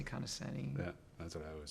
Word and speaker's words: Conoscenti: name well you know I hear I hear pronouncedanti or kind of and it means I've heard a few different